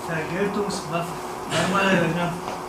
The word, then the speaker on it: Vergeltungswaffe: Vergeltungswaffe.